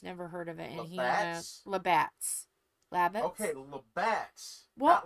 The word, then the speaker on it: Labatt's: Labatts. Yes, it's called Labatt's. Yes, we did have that. Labbits. We still carry that here. Okay, Labbits, no. Labatt's, yes.